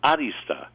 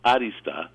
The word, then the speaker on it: arista: I put the accent on the A, like arista, because it's actually a Greek word, and those of us who went to high school in New York City will remember that we had a club called Arista, as we pronounced it, Arista.